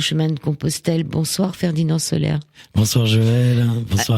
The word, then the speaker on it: Soler: On va en parler ce soir avec Ferdinand Soler. Il s'appelle Comme le soleil, mais ça s'écrit S-O-L-E-R.